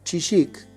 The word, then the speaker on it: Chillik: intención nuestra de hablar con el cardiólogo iván kisic creo que se pronuncia así sino él me va a corregir